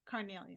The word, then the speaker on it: carnelian: it's good to know that cornelian right that's how you say it Carnelian Carnelian cool cool and